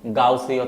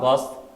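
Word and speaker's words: Gauss: জন্য এই সমতলগুলোকে হচ্ছে গাউসীয় তল বা গাউসীয় প্লেনও বলা হয়ে থাকে। জার্মান গণিতজ্ঞ গাউস বা গস, কেউ গাউস উচ্চারণ করে কেউ গস উচ্চারণ করে, যেটা খুশি বললেই হবে, একে গাউসীয় প্লেন বা গাউসীয় তল বলা হয়।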